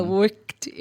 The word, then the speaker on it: worked: Porque geralmente o brasileiro, ele vê o ED, ele lê o ED. Isso. Ele fala worked. Worked. Called. E não é essa a pronúncia.